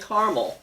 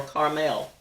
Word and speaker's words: caramel: I've heard it pronounced 2 ways, caramel and caramel, or caramel.